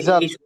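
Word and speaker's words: ذ: আমি জাল, বলছিলাম যে জাল। এই শব্দটা একটু খেয়াল করতে হবে। ওই যে দুই সামনের যে দুই পাশের দাঁত আছে, ওই দুই পাশের দাঁতের মাঝখান দিয়ে একটু জিহ্বাটা বের হবে। দাল, এইভাবে উচ্চারণ করতে হবে।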